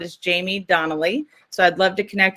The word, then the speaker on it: Jaime Donally: And the sound is Jaime Donally.